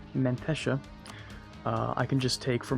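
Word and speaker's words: Menteşe: anything down here in what i've been told is pronounced mentesha i can just take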